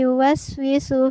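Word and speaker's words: يوسوس: Di sini kedengaran lama pada huruf yu, padahal di sini sebenarnya tidak ada huruf wawu sukun, maka yu tidak dibaca lama. Cara membacanya adalah allazi yuwaswisu fi sudurin nas. Yuwaswisu bukan yuwaswisu.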